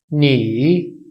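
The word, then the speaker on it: 你: तो इसकी प्रोनाउंसिएशन, इसका साउंड कुछ यूं होगा, नी। नी मतलब यू, तुम। नी का मतलब है तुम, यू। इसकी प्रोनाउंसिएशन क्या होगी? नी। नी यानी कि लफ्ज़ को पहले गिराया जाएगा, उसके बाद उठाया जाएगा।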